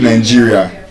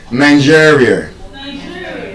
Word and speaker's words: Nigeria: We call it Nigeria. Whereas it is what? I told us. We've forgotten. Ah, Jesus Christ. Nigeria Nigeria That's the ear sound. ear Nigeria Nigeria So, that takes us um to the last uh rule.